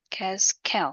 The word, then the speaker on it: Gaskell: 뭐 킹슬리의 엘터럭 저도 뭐 읽어보진 않았지만 Gatswell, Gaswell 어떻게 발음할까요? Gaskell, 그렇죠?